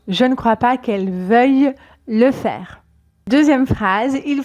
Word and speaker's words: veuille: vous le connaissez je ne crois pas qu'elle veuille attention à la prononciation je ne crois pas qu'elle veuille le faire deuxè phrase il faut absolument que